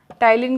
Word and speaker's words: ptyalin: ढंग से देखिए, टाइलिन की स्पेलिंग P से स्टार्ट होगी. So PTYALIN. It is also called salivary amylase.